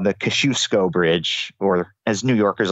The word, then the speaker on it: Kosciuszko Bridge: Just yesterday, there's a bridge that connects Brooklyn and Queens called the Kosciuszko Bridge, or as New Yorkers like to pronounce it, the Kosciuszko Bridge.